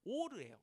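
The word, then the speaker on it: עור: 그리고 아담과 하와에게도 하나님께서 가죽 옷을 지어서 입히셨는데, 이 가죽 옷이 이게 그 오르예요. 오르. 발음이 오르인데 히브리어에서는 이 동음이어를 굉장히 많이 씁니다.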